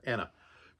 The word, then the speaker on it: Anna: Yeah, Anna. Had a momentary brain fart where I thought it might be Anne, but no, it's Anna.